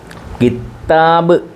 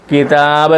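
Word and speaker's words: كتاب: അറിയാതെ ഒരു തെറ്റ് ഉപയോഗിക്കാറുണ്ട് കിത്താബ് കിത്ത എന്ന് ശദ്ദ് കൊടുത്തു പറയാറുണ്ട് തെറ്റാത് കിതാബ് എന്നേ ഉള്ളൂ കിതാബ് കിതാബ് പുസ്തകംാ ാബ്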